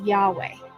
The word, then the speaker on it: Yahweh: The Lord's name is pronounced by most biblical scholars and Hebrew linguists as Yahweh.